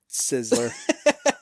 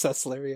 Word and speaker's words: Sessler: All right, Adam Sizzler. It's Sessler, yeah.